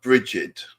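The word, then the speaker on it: Brigid: I call her Bridget.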